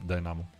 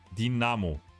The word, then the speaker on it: Dinamo: Then came to Dynamo. Dinamo, not Dynamo.